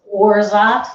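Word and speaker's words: orgeat: a simple syrup called orzot and you'll see on the screen it's spelled o-r-g-e-a-t but it's pronounced orzot like zsa orza it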